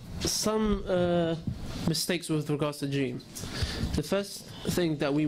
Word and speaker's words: جيم: Okay, so some mistakes with regards to jim. The first thing that we must bear in mind is that the jim comes from the middle of the tongue and the roof of the mouth.